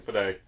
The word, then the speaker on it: Fede: I believe that's how you pronounce his first name, Fede.